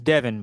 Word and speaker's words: Devon: so sorry is it is it Devin or is it Devon it's Devin but it's spelled Devon you know okay it's my